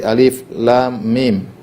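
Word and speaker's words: الم: dibaca sebagai huruf seperti Alif Lam Mim Alif lamim tidak dibaca alam yang seperti ini saya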